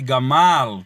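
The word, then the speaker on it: ܓܡܠܐ: fica o que aqui gamal porque a última palavra esses xizinho que é um Alef não se pronuncia pessoal tá certo como não se pronuncia vai ficar só gamal da marca e dizer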